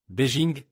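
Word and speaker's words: 北京: Beijing que nous ne connaissons pas encore très bien et Beijing en chinois et se prononce Beijing est la traduction du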